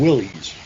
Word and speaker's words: Willys: They were the Willys, and some people say it's pronounced Willis, but to me it looks like Willys, so let's go with Willys.